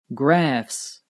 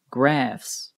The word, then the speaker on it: graphs: Graphs. The ph here also sounds like an F. Graphs.